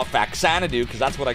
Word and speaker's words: Faxanadu: Uh you love Fazanadoo. You're one of those. Yeah, I know that's the proper pronunciation, but I call it fax sananadoo cuz that's what I called it when I was a kid.